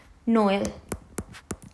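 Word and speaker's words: Noël: let's see number one let's example Noel Noel you can see we are pronouncing o and E both Noel with with Force Noel means Christmas Christmas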